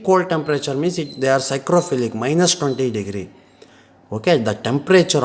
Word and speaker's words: Psychrophilic: Psychrophilic bacteria, here P is silent, don't pronounce psychrophilic. Okay, only pronounce that.